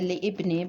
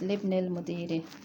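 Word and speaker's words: لابن المدير: So we say, remember, we don't say li ibni because it's not a Hamzatul Wasl is not pronounced when it's in the middle of a word, so it's Libnil Mudiri.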